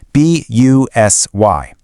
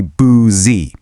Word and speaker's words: busy: B U S Y. It really looks like it should be boozy. But the U is actually pronounced like a short I.